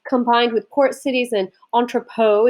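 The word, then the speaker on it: entrepôt: with port cities and entrepot is the correct pronunciation of this word which are basically areas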